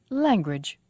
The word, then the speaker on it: language: stress is on biz language language two syllables and the stress is on lang association association five syllables